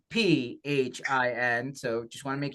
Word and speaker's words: Phin: for the people who are listening to the audio version of this, Phin is not spelled with an F. It's Phin.